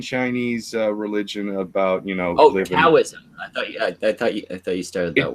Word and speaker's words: Taoism: Taoism. I thought you started that word with a D. It's actually pronounced with the D.